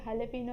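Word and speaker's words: jalapeño: वो लिखते जलेपिनो है एंड बोलते हलेपिनो है, so that is हाउ इट इज़।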